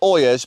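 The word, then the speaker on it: olla: They're called Oyas, but it's spelled O-L-L-A, which is confusing.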